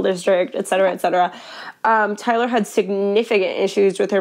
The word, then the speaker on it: Tylar: have to ask like 80 times how to spell it. Like, and my name. Mm-hmm. Yeah. So it's T-Y-L-A-R.